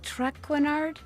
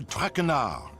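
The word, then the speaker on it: Trenard: It bums your trainard. Please, in English, I do not wish to hear my native tongue butchered while I eat. As for my name, not Trackard. It is Traar.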